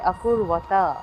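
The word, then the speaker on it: अकुर्वत: যুক্ত হয়েছে কিম অকুরতা এখানে দেখুন বটি হচ্ছে অন্তস্থ তাহলে এর জায়গায় হবে অকূর্বতা অকূর্বতা কিম অকূর্বতা কিম অকূর্বতা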